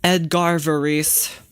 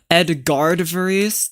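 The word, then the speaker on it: Edgard Varèse: Edgar Varice. That's how you pronounce it. Edgard Varice.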